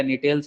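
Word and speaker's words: Gnetales: गया जिंकेल्स हो गया निटेल्स हो गया यहां पे जी साइलेंट है ठीक है निटेल्स बोलते इसको।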